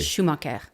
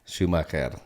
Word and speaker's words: Schumacher: So how would you pronounce it in its traditional form when you're in Europe specifically? Schumacher. Schumacher. Okay. Yeah. So the origin of that is what? It's German. German, Mine actually is Swiss.